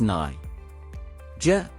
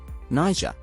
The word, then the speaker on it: Niger: Pronounced as Niger. Niger. The first syllable is pronounced as Ni, rhyming with my.